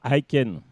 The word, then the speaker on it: Aiken: Iken, ouais. Non, Aiken.